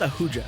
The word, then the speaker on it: Ahuja: So it's definitely not I right. have literally, it's Ahuja. Ahuja. Just sneeze, and that's basically what it sounds like.